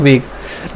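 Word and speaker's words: vogue: है आप लोगों को वेग देखो एक तो होता है वेग और एक क्या होता है एक होता है वोग वी ओ जी य ई वोग ओके वेग और वोग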